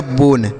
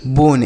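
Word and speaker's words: bone: यह हो गया बोन। बी ओ एन ई बोन। इसे बोने नहीं पढ़ेंगे।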